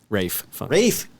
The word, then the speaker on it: Ralph: y y so this is starring Ralph finds Rafe ra yeah we talked about this before spell Ralph but it's pronounced I look at it I'm just like